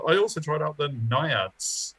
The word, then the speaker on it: naiads: tried out the naiads which we think is the right way to say it because apparently that second eye is a little bit silent yeah it's not naive yeah no it's not it's not it's definitely naiads and yeah they were